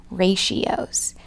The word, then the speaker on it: ratios: rat EO ra t io but we would pronounce them ratios loo number one at the sixth grade school